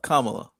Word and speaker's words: Kamala: Why do I have to It annoys me that I have to correct you on how to say her name. It's just I'm sorry. Yeah. Kamla Kamala. Yeah.